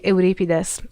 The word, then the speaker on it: Euripides: Because in Greek it would be Euripides.